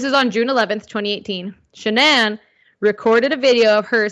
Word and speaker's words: Shanann: wife's name was shenan it's spelled weird I did look it up three times guys and the way she said it's shanan it's not Shannon just letting you guys